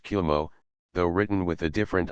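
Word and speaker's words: 雲: to that of clouds, which are pronounced Kumo, though written with a different ideograph.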